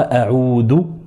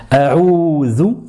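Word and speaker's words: أعوذ: pour vraiment faire attention, ne dites pas a'oudou, parce que beaucoup de gens, je vous le mets juste en dessous, beaucoup de personnes, malheureusement, prononcent cette lettre dou au lieu de la prononcer zou, alors le sens change totalement. A'oudou, avec le zel à la fin, et c'est comme ça qu'il faut le dire, et c'est comme ça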